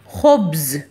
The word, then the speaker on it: خبز: Swaruch, ha sound, okay, from your upper part of your throat you have to say, you have to pronounce ha sound. Khubz, khubz.